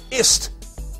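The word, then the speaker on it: *ist: number three is the Pentax IST pronounced is but with a leading asterisk in the structural tradition of a Dos wild card cuz you know that's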